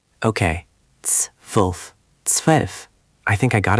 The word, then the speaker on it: zwölf: 12, meaning pronounced zwölf. Good try, Devendra, but let's refine that ts sound again. It's zwölf, not zwölf. The Z is like ts, and then W is like V, so zwölf.